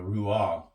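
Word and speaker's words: רוח: It's ruach. Okay, or ruah. Okay, the ch is silent in it.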